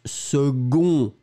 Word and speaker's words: second: Souvenez-vous, phonétiquement, c'est une famille bizarre parce que on prononce second, secondaire, seconde. Le C est prononcé comme un g-g-g-g pour une raison évidente.